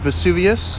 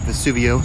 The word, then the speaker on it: Vesuvio: lights right here city lights bookstore in uh vesuvius a little awesome bar love that bar vesuvio sorry vesuvio i want to say it wrong